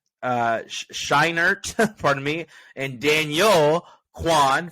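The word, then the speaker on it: Scheinert: think it's it's I think it's Danielle uh Sharon uh shinert pardon me and Daniel Quan for everything everywhere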